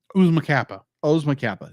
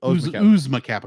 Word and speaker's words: Oozma Kappa: Oh yeah, so my third like would be is like pronounce this correctly. I've got in front of me Oozma Kappa. Thank you. Oozma Kappa, because it's like Oozma Kappa.